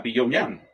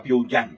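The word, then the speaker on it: Pyongyang: su reciente visita a a Pongyan Yang, a PiYan, perdón, que la forma correcta de pronunciarlo, descollando una ampliación sin precedentes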